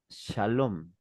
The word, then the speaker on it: Shalom: Es de donde sale la palabra Shalom o Shalem, que es la pronunciación correcta en este caso.